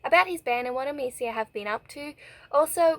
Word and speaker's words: Emecia: It is pronounced Emecia.